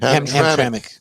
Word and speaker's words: Hamtramck: Hamtramck.